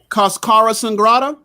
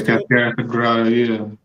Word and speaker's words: Cascara Sagrada: Elderberry, burdock, dandelion, yellow dock, guaco, cascara sangrata. Did I get that right? Yeah, Cascara Sagrada, yeah.